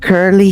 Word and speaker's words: curly: Esta u ignorada totalmente. Curly. Se van del sonido de la K a la R.